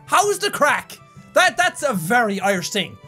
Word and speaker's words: craic: Having the crack? How's the crack? Where's the crack? Cane scale? That's, again, advanced. But how's the crack just means, how are you, or what's happening? And it's spelled crack, C-R-A-I-C. You see what I mean?